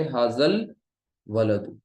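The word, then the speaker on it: هذا الولد: जबर है, जाल पर, तो अब ये बीच में जो आपको दो, एक अलिफ और एक हमजा लिखा हुआ दिख रहा है ना, वो सब कुछ साइलेंट हो जाएगा और ये डायरेक्ट जाल किस में मिल रहा है, लाम में। तो ये पढ़ेंगे हाजल वलदु, हाजल वलदु।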